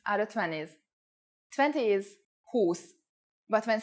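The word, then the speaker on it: húsz: the only exceptions are the 20s 20 is whose but when saying 21 22 and so on Whose changes to Husson for example who's on edge 21.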